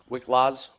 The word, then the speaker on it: Wiklacz: Wiklacz, I believe is how you pronounce it.